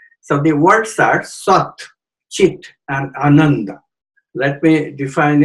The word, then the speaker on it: chit: Next is the word chit, C-H-I-T, but the T is pronounced softly, chit.